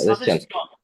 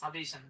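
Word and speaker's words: suggestion: stipulate স্টিপুলেশন স্টিপুলেশন সাজেস্ট সাজেশন ভাই মত করে বলবেন সাজেস্টন আমার ভাইগনা বলে সাজেস্টন বাবা সাজেস্টন না সাজেশন ডিমান্ড ডিক্রি যা আছে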